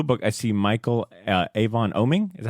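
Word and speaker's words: Oeming: and for Blue Book I see Michael Avon oming is that how you say his name yep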